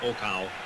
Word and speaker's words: Okao: problem with him but I understand he's pronounced Oka he's a very famous